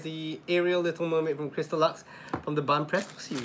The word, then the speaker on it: Crystalux: Again, that's how you spell it. It's CRYSTALUX, Crystal Lux.